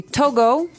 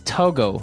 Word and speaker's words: Togo: um but when we talk about the country Togo mhm what do we call a person from that country toges toiz okay so it's Togo that's the way you pronounce it because if